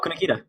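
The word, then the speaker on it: Kunikida: I said his name wrong all last episode, so I'll let Jeremy say his name. Oh, Kunikita.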